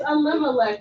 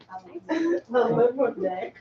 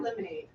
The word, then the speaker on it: Elimelech: It's Elimelech, but the kids don't pronounce it. Elimelech. Not lemonade.